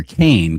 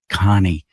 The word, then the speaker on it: Kane: And her last name is everybody called her Kane cuz it's spelled k a n e. But then uh she confided to me later, "It's actually pronounced Connie."